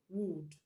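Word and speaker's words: wooed: So when you have the past tense form of it, we are going to pronounce it as wood, wood.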